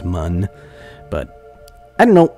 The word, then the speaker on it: Mun: I think I've been mispronouncing moon this entire time. It's the developers, their original intention was for it to be pronounced mun, but I don't know.